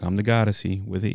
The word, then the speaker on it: Goddessie: I'm the Goddessie. I'm a goddess, you see? But I'm deep like the ocean, like the sea. But you spell it with the I-E. Goddessie.